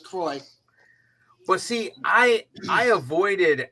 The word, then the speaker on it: Saint Croix: I got you yeah like Saint Thomas and Saint Croix Virgin Islands that's Kroy but see I I